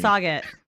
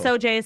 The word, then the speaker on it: Sauget: the you say morning, Sauget? How do you pronounce the town? I say so. I get Seriously? yeah. No, it's Soj. It's so really yeah.